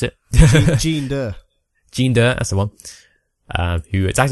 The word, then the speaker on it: Jinder: How do you pronounce it? Jinder, that's the one.